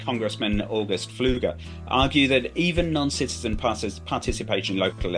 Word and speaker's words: Pfluger: And speaking of Congressman Pfluger? Fluger. I looked it up. Pfluger. Not a word I am used to pronouncing.